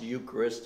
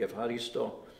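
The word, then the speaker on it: ευχαριστώ: i will say that the word eucharist is actually from a greek word and and it doesn't it's not pronounced eucharist it's it's a word that speaks of thanksgivingness uh effect in in greek if haristo you know it's a thank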